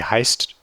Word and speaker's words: heißt: So, sorry, this is a double S sound. So German just uses this SZ. This is used as a double S. So it's just pronounced as if it were two S's together, which is always a S sound.